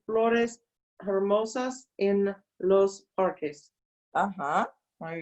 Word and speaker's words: hermosas: En el verano hay plantas verdes y flores hermosas en los parques. Ajá, muy bien. Don't forget the H is silent, okay?